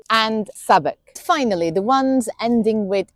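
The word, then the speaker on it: Southwark: Then we have the ones with silent w Dalich Woolitch Greenwich Chisik Warick Avenue and Sabuk.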